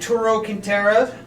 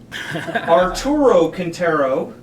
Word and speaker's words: Arturo Quintero: dom dom barrick and turo cantarev can yeah i just butchered that arturo quintero quintero come on lips uh